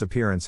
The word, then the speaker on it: appearance: Phonetic Alphabet to pronounce appearance have in mind that the size of the syllable indicates where the accent or stress is in this case the accent is in the second syllable corresponding to peer below are other ways